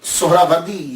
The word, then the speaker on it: سہروردی: اصل تلفظ کیا ہے۔ اصل میں یہ سہراوردی یا تو نسبتی ہے، تو لفظ جو ہے وہ سہراورد ہے، سہراورد، سین کے اوپر پیش، پہلی ہا، یہ ہا